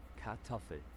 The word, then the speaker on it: Kartoffel: Now can you just tell me how to pronounce it? So without further ado, let's dive into today's word. Kartoffel.